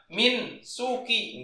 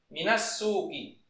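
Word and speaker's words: مِنَ السُّوقِ: Makanya dibacanya minas bukan min suki, enggak min suki ya. Tapi langsung dihidupkan dia karena sukun ketemu sukun. Minas suki.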